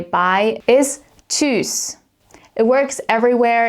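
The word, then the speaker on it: Tschüss: You'll note that this T s ch sound might look a little bit complicated in the beginning if you're not quite sure how to pronounce this. But this combo is actually pronounced like a ch sound, just like in the word for chips.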